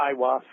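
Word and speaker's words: Aiwass: that he said his holy Guardian Angel was I was is how I pronounced it is that correct oh yeah I was yeah I was now H how would one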